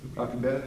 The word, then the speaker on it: Alcubierre: What's the proper pronunciation? Alcubierre. Alcubierre, thank you.